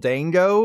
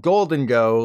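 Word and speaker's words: Gholdengo: exclusive to me but I called the gold and silver gold Dango like Eric Dane AKA McSteamy Andre's Anatomy but this is one situation where the obvious pronunciation is the right one as confirmed by a recent Starlet Violet trailer and doubly confirmed by the new handbook this guy is called Golden go like you know golden yeah my bad for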